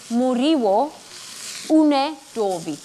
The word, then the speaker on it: Muriwo Unedovi: And we are busy making a Muriwo Unedovi. Yes. Am I saying it correctly? Yes, you are. I'm just very slow at pronouncing it.